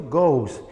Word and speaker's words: goes: what's it go go's aquí hay un asterisco si por qué lado si bien en la ortografía agregó la isla pero no voy a pronunciar el wish ok pronuncio goes y después fix sería